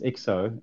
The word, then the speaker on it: IXO: portal sean is it do we call it ixo or ixo what's how are you pronouncing it yeah that's usually the first question question people ask me and it's a good one because you won't forget it it's uh it's exo uh it's not a neologism